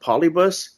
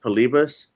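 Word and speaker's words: Polybius: heard of it pbus I thought it was called pronounced polybus but I think it's actually pronounced pbus and it was like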